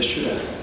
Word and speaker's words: Shuddha: This poem I make use of a kind of deity of my own invention, the Shuddha. It's spelled S-H-U-D-D-H-A, and like Buddha.